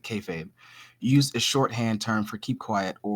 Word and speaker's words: kayfabe: 1950 anymore all right it says originally would have been pronounced as kiel feep and said quickly it sounds like kayfabe use the shorthand term